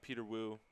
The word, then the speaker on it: Peter Wu: with our guest uh peter wu peter wu plus uh he told me the plus is silent yeah it's a good